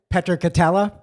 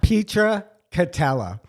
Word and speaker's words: Petra Katella: came on air that I'm pronouncing your name incorrectly 10 years Petra Katella Petra Katella Bingo uh and now Sally